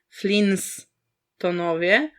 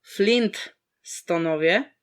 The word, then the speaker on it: Flintstonowie: co w każdym razie Flinstonowie to nie są Flinstonowie tylko Flintstonowie także wymowa jest tak